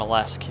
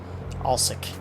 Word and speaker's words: Alsek: I've been calling it Alesk. It's Alsek. A-L-S-E-K. So I've been saying it wrong the whole time.